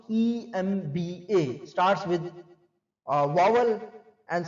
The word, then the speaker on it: MBA: He is an MBA or the MBA, he is an MBA, MBA is pronounced EMBA, starts with vowel and sound in EM।